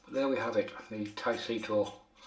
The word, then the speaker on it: Taisoto: There we have it, the Taisito. Taisoto even.